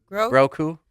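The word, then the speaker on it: Grogu: Grouku. So, Grou. Grou. Oh, so like Ragu, but Grou like Ragu spaghetti. But no, um, we went and saw the new Scream 7.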